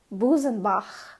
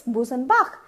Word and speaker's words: Busenbach: In English, if you try to pronounce the word, it's Busenbach. B-U-S-E-N-B-A-C-H. It's Busenbach. It's not k, it's it's like, you know, you're trying to spit.